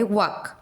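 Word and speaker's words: walk: ठीक है, तो एक है पहला वाला वर्ड है वाक। वाक वाक सभी का प्रोनाउंसिएशन हो रहा है एक्सेप्ट एल।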